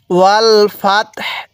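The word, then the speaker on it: وَالْفَتْح: ওয়াল ফাতহু তাহলে এবার যদি আমরা এখানে ওয়াকফু করি তাহলে ওয়াল ফাতহ এই হা টা হালকা উচ্চারণ করব তা টা পরিপূর্ণ উচ্চারণ করব এবং হা এর উপরে এই যে পেশটি আছে এই পেজটিকে আমরা বাদ দিয়ে দিব কিভাবে পড়বো ওয়াল ফাতহ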